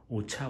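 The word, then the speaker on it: Orchha: 오차 오르차 이렇게 발음하는데 그래서 거기 들려서 한 2, 3일 쉬었다가 갈까 생각 중입니다.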